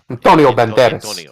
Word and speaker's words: Antonio Banderas: Antonio Banderas.